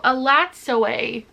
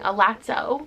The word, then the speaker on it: Elatsoe: Oh, Elatsoe is actually how you pronounce this. I'm so sorry, I've been saying Elatsoe for so long.